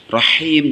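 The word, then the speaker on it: رحيم: Rahim, jangan lupa ketika mengucapkan hak kecil sama dibacanya hi.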